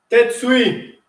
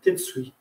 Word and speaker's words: tetsui: Tête suit. D'accord? Avec le dessous du poing. Ça s'écrit, c'est pas grave. Très bien. T-E-T-S-U-I. Tête suit.